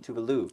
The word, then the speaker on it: Tuvalu: Tuvalu. Rhymes with Scooby-Doo. Tuvalu.